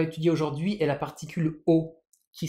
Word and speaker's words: を: elle est écrite la particule se prononce bien o mais le hilagana c'est o attention on nutilisera pas